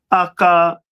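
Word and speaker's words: Achlamah: And it in Hebrew it is pronounced as akalama.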